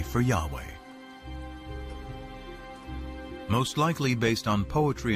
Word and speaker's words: Yahweh: According to one account, Abraham knew God by his intimate personal name, conventionally pronounced Yahweh. Passages with the name Yahweh, which in German is spelled with a J, scholars refer to as J.